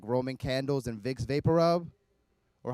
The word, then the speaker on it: Vicks VapoRub: in Vicks VapoRub or hot Dominica's pronounce it Viva Peru Vicks VapoRub some Dominican red then I went Viva Peru but I seek a isn't silent in Spanish we just said we don't need those letters that room would also